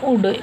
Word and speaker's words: would: Okay, ये उड, उल्ड नहीं बोलना है, बट अपने को बोलना है उड, बिकॉज L साइलेंट है।